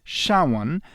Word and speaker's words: SHA-1: a hash function named sha1 pronounced xiaowan where sha stands for